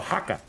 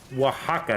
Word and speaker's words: Oaxaca: have a hard time well haka oaxaca i think is how you pronounce that right good spelling you got